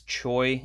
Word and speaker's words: Choi: Green Lantern number 5, I believe it's Choi is how you pronounce it, the Mike Choi variant.